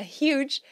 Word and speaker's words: huge: sign esse holding a Huge né duas palavras começando com H E esse H é pronunciado holding segurando Huge gigante